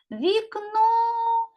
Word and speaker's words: вікно: у слові гукаємо слово вікно куди падає наголос на другий склад А тепер робимо звукову